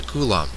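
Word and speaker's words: coulomb: come in different amounts the metric unit of charge is the kulum rhymes with Dron defined as follows one kulon is defined as the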